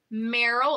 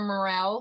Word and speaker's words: Merrell: factor so these are your Merrell or morale some people pronounce it one way or the other I pronounce it both they're aluminum color they're